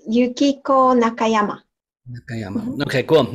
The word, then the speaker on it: Yukiko Nakayama: Do you want to hit me with it one time so I can hear how it's properly pronounced? It's Yukiko Nakayama.